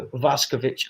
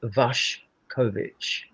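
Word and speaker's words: Vušković: And like then I, you know, after Vashovic actually is pronounced Vash Kovichic is the proper pronunciation.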